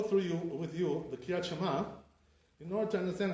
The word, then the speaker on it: Shema: How do you say Shema, right? So some of the Ashkenazim, they say all kinds of things, the Ashkenazim. They say Shema, Shema. That's not correct, how they say, right?